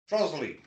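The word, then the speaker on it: Trottiscliffe: Trosley.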